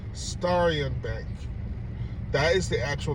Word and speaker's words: Starion: Oh, so again, Starion Bank, or you could just pronounce it Star Ion altogether.